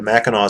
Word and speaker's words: Mackinac: links in the bottom the mackinaw center which is spelled mackinac but his french spelling of an indian word people in michigan know how to say it no one else does the mackinaw center has a